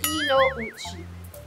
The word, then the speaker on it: Kinouchi: to tell yung mga kapitbahay natin yung tamang pronunciation ng last name mo turo na natin sa kanila It's Kino uchi Kino uchi ang haba pa ng pangalan ko